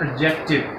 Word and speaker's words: adjective: मान लोग इसको इतनी स्पीड से बोलते हैं कि वो डी को जो है वो अंदर साइलेंट कर देते हैं और एडजेक्टिव, लेकिन लफ्ज क्या है? एडजेक्टिव।